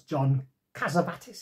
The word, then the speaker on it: John Cassavetes: It stars John Cassavetes, is how you say his name.